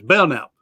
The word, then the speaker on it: Belknap: One time I mispronounced his name because there's a K in there. He says, nope, that's silent. So it's Belknap, Belknap. So is I close on the Belknap? I got a cousin. He goes by Belknap.